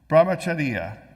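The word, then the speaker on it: ब्रह्मचर्य: The first stage is brahmacharya. Now that I pronounced it wrong, I'll never pronounce it right. Brahmacharya.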